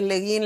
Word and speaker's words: Le Guin: la revolución de Ursula Le Guin. No sé si se pronuncia Le Guin, Le Guin. Depende, pero es Le Guin, Le Guin, Úrsula K. Le Guin.